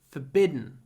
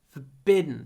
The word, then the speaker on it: forbidden: please pronounce it correctly forbidden forbidden not forbid forbidden at the beginning almost no vowel forbidden for hold it